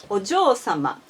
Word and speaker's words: お嬢様: However, as for this one, お嬢様, you never ever make this O long.